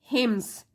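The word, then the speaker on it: hymns: Recite हिम्स, एन यहाँ पे silent है।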